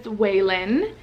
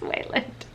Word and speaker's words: Wayland: The next name I have is Waylon, and Waylon is Marlon Wayans. Marlon Waylon? No. Why did I say that? I felt like it was Waylon, but it is Wayland.